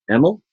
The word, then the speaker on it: Emal: is the multi-talented creator thinker and marketer emel thanks for being here thank you for pronouncing my name correctly by the way no